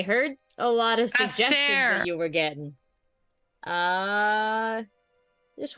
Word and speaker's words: Astair: Did you just call me Alistair? Astair.